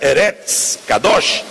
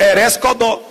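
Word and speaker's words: ארץ קדוש: Só que como ele não sabia a pronúncia correta, Eretz Kadosh, ele falou Eretz Kodó.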